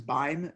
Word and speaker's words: Beim: my last name is buying the ein and rhymes with time so it's fine time